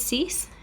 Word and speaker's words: six: like it should be said differently it's actually pronounced dies so those two numbers are very similar so six is cease seven is set eight is wheat nine is